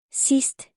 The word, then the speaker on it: Sidst: The D sound is quiet when it is paired by consonant letters like S or T.